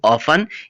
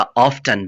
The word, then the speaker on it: often: कितनी मर्तबा, हाउ ऑफन इसको हाउ ऑफन और हाउ ऑफ्टन भी प्रोनाउंस कर सकते हैं। OFTEN को ऑफन या ऑफ्टन भी प्रोनाउंस कर सकते हैं।